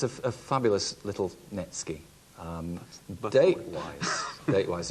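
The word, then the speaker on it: netsuke: all right seven pounds erica knowles okay tell us all well it's a fabulous little netsky um date wise date wise it's a good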